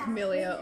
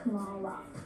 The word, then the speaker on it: Kamala: Camellia, oh. Sky Traders, my name's pronounced Kamala.